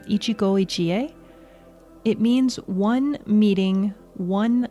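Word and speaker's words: 一期一会: And I think I'm pronouncing this correctly, Ichi-go, ichi-e.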